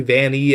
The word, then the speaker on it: Vanny: We also have the Van Eye masks, and I know it's supposed to be Vanny and Helpy, just spelled different, but otherwise it gets really confusing with the prior characters who have that same pronunciation.